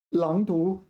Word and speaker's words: 朗读: 我会朗读这个句子好不好？学生们正在教室里朗读课文。朗读课哦，朗读 wow, I've been mispronouncing that a long time. Is it 开朗的朗？开朗 this one. Yeah, it's that one. 开朗的朗开朗 I say correctly. So 朗读 third tone, second tone.